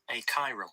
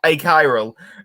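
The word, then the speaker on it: achiral: I needed to double check the pronunciation, but it's definitely a chiral. A chiral, which is spelled Use that in a goddamn sentence.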